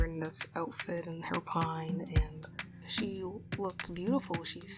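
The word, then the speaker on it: pagne: um lots of these beautiful dresses and outfits that are made of pine, which is like not the tree pine, not that, but it's spelled P A G N E or also known as like African wax fabric prints.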